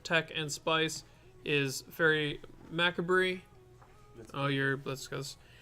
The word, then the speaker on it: Macabre: One of the bits of tech and spice is Fairy Macabre. Let's go. I know it's not Macabre, but that's how we have to pronounce it around here in Southeast Michigan.